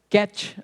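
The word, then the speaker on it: ket: aqui é zero um então isso aqui é pronunciado CAT a Kat a Vocês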